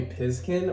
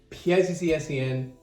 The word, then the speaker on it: PZSCN: By the way, that is how you pronounce my old username. A lot of people would call me Pizkin or. No, you say each letter individually. PIZZSCN.